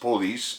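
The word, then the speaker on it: polis: The French coined the word police from the Greek politia, from the word P-O-L-I-S, pronounced police, and it means a city.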